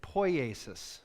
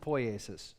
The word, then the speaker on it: poiesis: And that's, we're going to talk about, if you're curious about the pronunciation, we're going to talk about mimesis and poiesis, okay? Mimesis and poiesis.